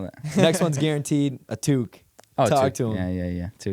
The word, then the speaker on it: toque: Next one's guaranteed, a toque. Oh, Talk toque. to him. Yeah. Toque. Yeah, as Americans will call it beanie. Yeah. I guess toque specifically. It's like a French Canadian word. Toque. It's spelled weird.